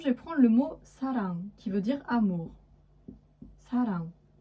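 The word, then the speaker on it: 사랑: Donc par exemple, je vais prendre le mot sarang, qui veut dire amour.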